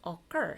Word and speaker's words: occur: 그런데 얘가 강세가 찾아보면 occur 해서 두 번째 마지막 모음에 강세가 있습니다.